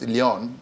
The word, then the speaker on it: Leon: Is it Leon or Lion? It doesn't matter. We have to Nigerianize the pronunciation to say Lion. It's okay, but it's Leon, whichever way.